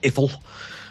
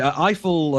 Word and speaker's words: Eiffel: There are enough in the way of actual facts, I think, presented about Gustav Eiffel, as you tell me, Eiffel.